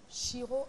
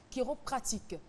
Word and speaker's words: chiropratique: aujourd'hui avec toi de chiro Kiro pardon Kiro pratique voilà le H ne se prononce pas le bien-être c'est avec